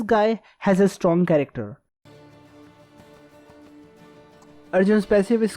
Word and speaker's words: Arjun: work on my jokes this is arjun yeah this is how his name is pronounced i don't know what is wrong with the western world adding an extra a behind every indian name anyway keep this aside